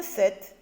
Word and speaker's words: sept: on écrit le nombre 7 qu'on a déjà appris à écrire cette qui s'écrit septe avec un p et qui est une oeuvre lettres muettes d'accord dix sept pour